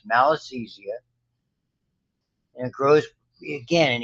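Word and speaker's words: Malassezia: names of fungi fungi this is called it's pronounced malisthesia And it grows again in areas where there's a lot of oil.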